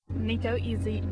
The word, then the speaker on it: Nico Izzi: Nico Izzi is how you say it? Yeah, I believe that's correct.